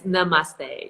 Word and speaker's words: namaste: girls and lululemons and the teacher that can't pronounce the word namaste and it's namaste you know and it's